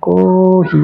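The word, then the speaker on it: コーヒー: কি কফি কহি মানে কহি এই যে টান আছে কহি টান দিতে হবে কহি মানে হলো কফি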